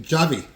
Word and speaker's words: Javy: Javy.